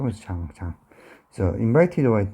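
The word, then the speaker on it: Jean: 자, 영어식 발음은 진인데 뭐 프랑스어로는 잔이나 뭐 되겠죠. 그래서 장. 그래서 invited와 진 시벨리우스에 의해서 초대되어졌습니다.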